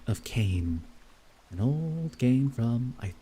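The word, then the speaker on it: Kain: legacy of G of Kane an old game from I the PS2 right I think so maybe PS3 I forgot to pronounce the N I'm sorry it's Kane Kane there's a lot of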